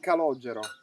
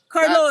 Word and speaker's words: Calogero: Calogero. Calogero. That's very difficult pronunciation for an English speaking, but I know, but it's a very typical Sicilian name.